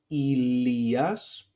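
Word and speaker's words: Ηλίας: So if you happen to see the three last diphthongs, they are pronounced as e. For example, Ilias, okay, and here we have one diphthong, epsilon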